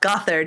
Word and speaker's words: Gothard: is it Gothard or goth hard yes well Gothard is how we say it but it's spelled Gothard which is just so funny to